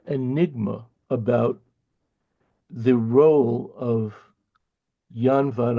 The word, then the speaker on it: Jan: about the role of yan van I I say Jan vanik but it's probably pronounced Yan but vanik and his